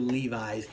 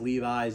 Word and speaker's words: Levis: Anthony Richardson and will Levi's hater yes I know his name's not actually pronounced Levi's it's Levis but I like to